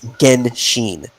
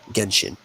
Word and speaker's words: Genshin: sure i'll record me it's gen sheen yeah yeah it's a hard g not not like jensen it's a genshin genshin chopping your legs you